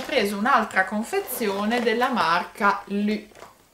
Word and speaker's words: LU: un'altra confezione della marca lì l'ho detto alla francese ma potete anche dire semplicemente lu non so voi come